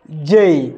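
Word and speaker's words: Z: তারপর হচ্ছে যেই, যেটা আমরা সকলেই ভুল করে থাকি। আমরা বলি যে, আসলে এটার সঠিক উচ্চারণ হচ্ছে যেই, যেই।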